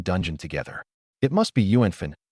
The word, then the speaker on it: yuánfèn: It must be Yuanfin. Ape Dong.